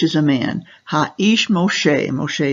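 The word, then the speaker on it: משה: We have here, Ve-ha-ish, ish is a man, ha-ish Moshe, Moshe is the way we pronounce Moses' name in Hebrew, Ve-ha-ish Moshe, anav me'od.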